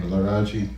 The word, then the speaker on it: Laraaji: this name to me laaj and it's an evolution from Larry Gordon to involve the Egyptian name for sun god raw yeah and I'm think wow three syllables son this is a